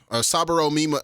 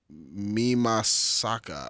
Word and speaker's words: Mimasaka: We're gonna go Saburo Mima. Fucking. This is Japanese pronunciation. They put the emphasis on a different syllable. Yeah. So Saburo. it's Subaru Mimasaka.